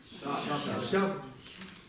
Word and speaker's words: ཞབས: Она молчит. Молчащая. Не читается. Точка. Читаем вместе? Щап.